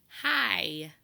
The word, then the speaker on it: high: in the word hi the G and the H are totally silent so when we worked on long eyes a while back we know that IgH makes a long I sound we hear the sound